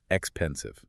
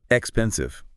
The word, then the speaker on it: expensive: The accent, the emphasis is squarely on the second syllable. Expensive. Expensive. Not expensive. Definitely not expensive. If you stress the first syllable, it completely throws off the rhythm and immediately sounds non-native.